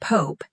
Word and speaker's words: Pope: The word Pope is pronounced with a long O sound, like rope.